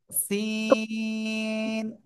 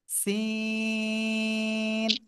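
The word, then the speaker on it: س: তো দেখি কেমন করেন এই অক্ষরটা উচ্চারণ হবে জিহ্বার আগা সামনের নিচের দুই দাঁতের পেট ও আগার সাথে লাগিয়ে চিকুন আওয়াজে উচ্চারণ করব সিন ঠিক আছে সিন আমি দেখব কে কে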